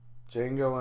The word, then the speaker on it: Django: to see Django Unchained the D silent Django Unchained have you ever seen that I think it's Django unchanged is that the cartoon no no it's just Django D is silent I don't know not